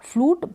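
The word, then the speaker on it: flute: ठीक है, फ्लू और टी को ट पढ़ेंगे, ई को प्रोनाउंस नहीं करेंगे। फ्लूट बांसुरी।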